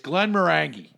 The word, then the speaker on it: Glenmorangie: one of my favorites I believe it's Glenmorangie is the way you pronounce it right but you're a--you're a